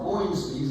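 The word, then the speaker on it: Ownby: researched it, people pronounce, all the old folks would call them Hornsbees. They put an S on it. It was really just Hornby, and they would spell it O-W-E-N-B-Y, O-W-B-E-E, and all kinds of different ways. My granddad just spelled it O-W-N-B-Y, like Hornby or by.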